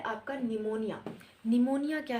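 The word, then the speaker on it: pneumonia: करवाओ तो करें इसके बाद क्या है आपका निमोनिया निमोनिया क्या है निमोनिया लंच की डिसीस है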